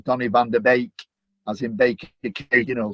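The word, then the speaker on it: Donny van de Beek: and said to me, this is how you say it. But obviously, fortunately, the communications director at Old Trafford lived in Holland, Charlie. So he'd also told me that it was Donny van der Beek, as in Baker, you know.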